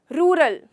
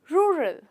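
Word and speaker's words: rural: रूरल। रूरल, जो बहुत गलत है। इसका एक्चुअल प्रोनाउंसिएशन है रूरल। रूरल, जहाँ पे आपको you have to role your tongue while saying the letter are.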